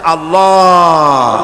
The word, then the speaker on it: আল্লাহ: পাকের নামের উচ্চারণ হচ্ছে আল্লাহ মুখটা একটু গোল হয়ে যাবে বলেন আল্লাহ আল্লাহ সুবহানাল্লাহ